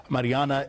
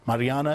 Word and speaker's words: Maryana: you before we started mariana is that is that how you pronounce it properly you got it exactly right it's a pleasure to be with you well uh mariana you were born in